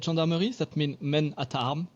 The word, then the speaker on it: gendarmerie: As we talked, I am from an Oklahoma ranch, so like being able to say this word, gendarmerie.